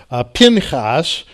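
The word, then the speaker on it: Phinehas: the most atrocious ways pin haas as it's pronounced in the hebrew has two sons Ichabod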